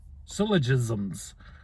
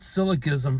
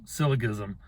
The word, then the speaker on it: syllogism: of syllogisms i've been i've said syllabism for years and years and didn't realize i was mispronouncing it until just maybe a couple of years ago but i still keep saying it syllogism it's syllogism okay so anyway there's modus